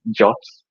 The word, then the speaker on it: JWT: Whenever you hear someone talk about JWTs, or other people pronounce them as JOTs.